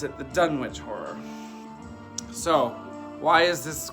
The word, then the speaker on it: Dunwich: today so we're gonna talk today about the dunnage horror or the Dunwich horror depending on how you want to pronounce it in this movie they pronounce it the Dunwich horror so why is this one special well